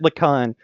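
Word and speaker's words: Lhikan: You pronounce it Lacan. You'll figure out, if you look at any of the names, you'll figure out Bionicle and its secret H placement. They'll just be words that have H's in them that make no sense.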